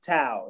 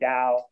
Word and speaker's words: Tao: So I say it Tao in the context of my album, Tao. Okay. The Chinese philosophy, you would say Dao, but my album, I say Tao because it's okay.